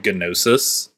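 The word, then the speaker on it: Gnosis: the drug is called genosis you gotta pronounce the G it's very important wild it's great so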